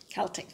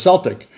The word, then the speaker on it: Celtic: In Ireland, where it was, you know, the real deal, it's Celtic. Celtic, with a hard C. And here, it's commonly referred to as Celtic. But still, the people with Irish backgrounds over here, they call it Celtic as well. So either one's okay.